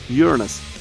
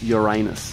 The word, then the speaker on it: Uranus: It's the planet of Uranus, not Uranus. If you want to pronounce it correctly, it's actually Uranus, which is the only